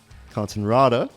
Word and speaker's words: Cortenraede: La pleased to welcome our next guest consonrada like it around you you said it right